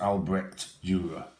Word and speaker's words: Albrecht Dürer: It is pronounced Albrecht Durer.